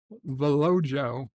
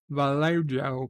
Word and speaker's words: Vallejo: I I used to I would have pronounced that uh velojo Vallejo California uh in my in my teenage years but um right after